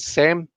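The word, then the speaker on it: xem: They use the pronouns they, them, but say also use the pronouns say and sem and ser, spelled with an X.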